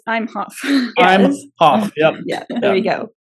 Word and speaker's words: Imhoff: you pronounce it no but that's how you spell it right it's not I'm a Hoff it's I'm Hoff I'm Hof yep yeah there you go makes